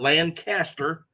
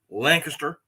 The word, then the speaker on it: Lancaster: He's up in the Lancaster area, not Lancaster, Lancaster. Y'all need to learn how to pronounce it correctly.